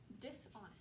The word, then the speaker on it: dishonest: Kind of weird, we got that sneaky silent H at the beginning. So we don't really say dishonest, but the H is there.